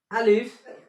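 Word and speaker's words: ألف: আলিফ। আলিফ উচ্চারণ করতে হলে মুখ বন্ধ হবে না। আলিফ এইভাবে হবে না, আলিফ বাতাস বের হবে।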